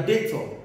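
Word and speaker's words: debt: took the money from you okay and your data the person who took this money from you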